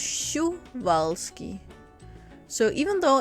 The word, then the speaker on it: Przewalski: always thought it was chris balski but in parents and i think it's called it they write it's pronounced shu valsky so even though it's p or said it actually profound shu valsky which makes this horse